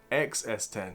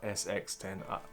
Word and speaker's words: X-S10: Did I say it right this time? X-S10, yeah, not SX10. I don't know why I keep getting it wrong.